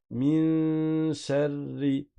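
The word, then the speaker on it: من شر: Tu vas préparer le shin, mais sans que la langue touche le palais. Tu vas pas faire un N, la langue ne va pas toucher le palais, tu vas pas faire un Nun.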